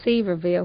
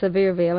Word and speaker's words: Sevierville: but it's actually pronounced Sevierville and now as I was telling you a good way to remember it is to think of something very severe like Dolly Parton now